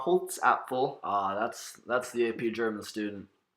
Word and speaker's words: Holzapfel: And she also connects with Frau Holze Falafel. I'm sorry, Bryce, I probably butchered that I pronunciation. believe it's pronounced Frau Holzapfel.